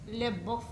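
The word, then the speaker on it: Le Boeuf: From our Royal Highness King George II, he demands a swift removal from Ohio Valley and the abandoning of Fort Lebeuf. It is pronounced Lebeuf. Lebeuf, Schmebeuf.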